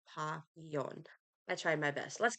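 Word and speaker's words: Papillon: be checking out uh pomon oh gosh I can't pronounce things oh papon not there's no m in there papon I tried my best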